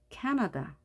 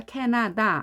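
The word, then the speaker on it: Canada: 몸이 많이 있죠 자 발음교를 보게 되면 맨 앞에 힘을 줘라는게 보이죠 자 강세 표시입니다 발음기에도 강세표제 이렇게 되어 있습니다 캐나다 그리고 우리가 케나다 아로 다 발음을 했지만 뒤에 바르게 보면 어로 되어 있습니다 그래서 캐나다 캐나다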